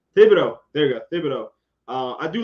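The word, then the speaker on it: Thibodeaux: It's Thibodeau. There you go. Thibodeau.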